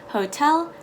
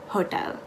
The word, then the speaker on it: hotel: bit confused by but it is as simple as just learning it and memorizing it hotel not hotel also a fun cultural